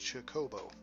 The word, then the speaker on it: Chocobo: It's supposed to be Chocobo, but I've always pronounced it Chocobo, with an emphasis on the middle syllable.